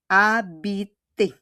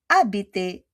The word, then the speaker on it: habiter: Habiter kasi silent H po yung French, okay? On prononce pas le H. We don't pronounce the H, okay? In French po. Okay, did you get it? We don't pronounce the H in French.